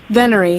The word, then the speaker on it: venery: Venery.